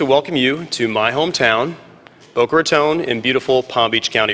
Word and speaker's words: Boca Raton: but also to welcome you to my hometown, Boca Raton, in beautiful Palm Beach County, Florida. And yes, for those of you visiting us for the first time, the correct pronunciation of our fair city is Boca Raton, although we've heard every variation that's possible.